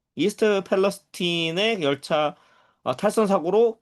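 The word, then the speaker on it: Palestine: 어, 팔레스타인이라고 발음은 하지 않지만은 팔레스틴이라고 하지만은 어, 똑같습니다. 우리가 알고 있는 이스라엘 팔레스타인의 그 팔레스타인과 어, 스펠링이 같죠. 이스트 펠레스틴의 열차 탈선 사고로 그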